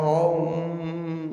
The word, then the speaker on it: ओम: ब्रह्म कहा जाता है अ उ म अर्ध बिंदु पांच अक्षर से ओम शब्द बनता है ना इसलिए ओम का उच्चारण होता है तो ओम ऐसे करके ऊ म अर्ध बिंदु पांचों का उच्चारण किया जाता है लंबी ध्वनि निकाल कर के पांच अक्षर का एक